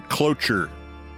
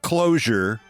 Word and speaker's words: cloture: That 60, that's only for cloture votes. No, not cloak, not closure. C-L-O-T-U-R-E. Should I spell it for you?